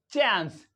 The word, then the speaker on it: chance: this इ नॉट चांस in British English we pronounce it चांस बट in American English this is चांस चांस चांस एंड एस टी ए एन सी